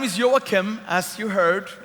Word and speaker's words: Joakim: My name is Joakim, as you heard. If you have a hard time pronouncing that, you can just say, "You're welcome." And that will bring it close enough.